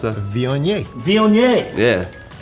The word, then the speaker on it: Viognier: How you pronounce that? Viognier.